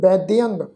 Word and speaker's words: वैद्यंग: आसाद रोगण वैद्यंग वैद्यंग दद्दे पैर विच अद्धा जईया वा इसका पाठ उच्चारण करांगे वैद्यंग वैद्यंग पार ब्रह्म परमेश्वर